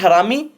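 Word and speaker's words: harami: Bullish हरामी, इसे आरामी बोलते हैं, एच साइलेंट होता है।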